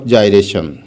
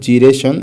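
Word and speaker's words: gyration: 15 নম্বর প্রশ্নে দেখো কি বলা হচ্ছে, what is radius of জাইরেশন বা রেডিয়াস অফ জিরেশন, এরকম উচ্চারণ করা হয়।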